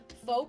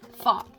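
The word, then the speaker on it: pho: on that waistline F I'm sorry I think it's pronounced fa my friend Ryan always tells me that and uh I think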